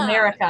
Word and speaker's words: America: Well, if we're throwing out book recommendations, like if you identified with like the Mara Ferreira, is that how you say it? America Ferreira? Yeah. It's America. Yeah. Like America.